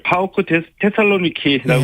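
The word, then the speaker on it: PAOK Thessaloniki: 이재영, 이다영 선수의 그리스 이적이 확정됐고 PAOK 테살로니키 이렇게 읽는 게 맞습니까? 예, 파오크 테살로니키라고 읽으시면 됩니다. 파오크 테살로니키.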